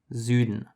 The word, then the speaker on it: Süden: So as you can notice from the last example, the S is different. Süden. It's a much softer S, while the English version, south, has the sharp S.